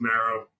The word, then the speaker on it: Maro: is it pronounced Maro or how do you pronounce it yeah so it's it's Maro so what I did I was I was